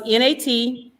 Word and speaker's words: Natchitoches: It's a French word. Okay, so it's Natchitoches. Yes. Remember, we have a sister city. It's a French. Natchitoches.